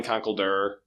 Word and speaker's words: Conkeldurr: this episode is you know how do you pronounce that fighting type with concrete pillars it's definitely Conkeldurr but you know if you want to say